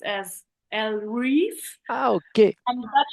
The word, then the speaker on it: Ellereve: written and how I'm pronouncing it because it's pronounced as L re oh okay um but it's definitely inspired by